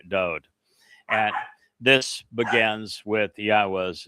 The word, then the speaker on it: Yahweh: more or lyrics to be sung of our king do and this begins with Yahweh's name. It begins Yahweh and that is the proper pronunciation of the name of God as directed